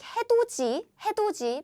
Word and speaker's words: 해돋이: If there is a 디귿 in 받침 position and 이 is coming next, the pronunciation become 지, as in 지. Again, we pronounce it like 해돋이, but however, we spell like this.